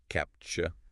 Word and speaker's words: CAPTCHA: And just so we're all clear, it's pronounced capture. Like capture or maybe gotcha.